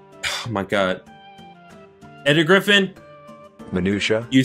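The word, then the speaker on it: minutiae: the word as it is meant to be pronounced sure griffin it's minutia thank you you are welcome griffin what possible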